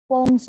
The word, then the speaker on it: poems: Ma'am page number 143 पे जो point second पोएम्स of prayers है मैम, पहली उसमें बात, वो फर्स्ट पैराग्राफ ना. इसको पोएम्स नहीं बोलते हैं, पोम्स बोलते हैं. करेक्ट प्रोनाउंसिएशन इसका पोम होता है.